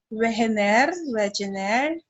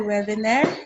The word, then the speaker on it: Wegener: By the way, pwede niyo itong basahin Wegener, may pronunciation na Wegener, no?